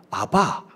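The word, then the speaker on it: אבא: 히브리 사람 즉 이스라엘 사람들은 아빠 우리랑 발음이 비슷하죠. 아바, 아빠 이렇게 이야기합니다.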